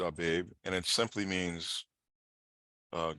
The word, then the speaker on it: Abib: that I have highlighted everyone's pronouncing it Habib right we pronounce it our babe and it simply means